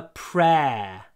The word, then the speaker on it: prayer: I said a prayer. So although we write prayer, the pronunciation is like pear, pear. Or we could write it like this. P-rare, rare, редкие, prayer. It's the eh-eh sound.